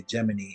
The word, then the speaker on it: Gemini: geminy instead of Gemini it's spelled like Gemini but they say geminy and it's like close to geminy like gin so I was like